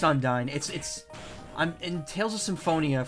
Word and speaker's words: Undyne: It's pronounced Undyne.